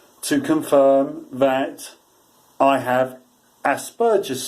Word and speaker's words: Asperger's: And that is, I'm actually coming out to confirm that I have Asperger's syndrome, or Asperger's syndrome as it's commonly frequently pronounced as.